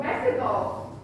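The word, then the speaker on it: México: X is pronounced like an H sound. So Mexico, what food do you like in Mexico?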